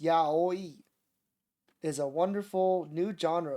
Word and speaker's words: Yaoi: Yahi, pronounced Yaoi, is a wonderful new genre of romantic erotica written by women for women readers, featuring man-on-man erotic love.